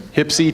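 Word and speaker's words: HPSCI: on Intelligence the acronym for which is usually pronounced tipsy so you'll hear some hypsi talk today and you'll know what it is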